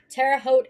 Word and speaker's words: Terre Haute: Terre Haute in Terre Haute, Indiana, on June 11, 2001.